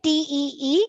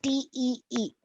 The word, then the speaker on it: Tee: Oh, It's the same spelling, Kie. but it's not tea. T-E-A, it's T-E-E. Ich trinke Tea. tea. chai. Thai. Chai. Yeah. So ich trinke Tee. Tee. T-E-E is Hey.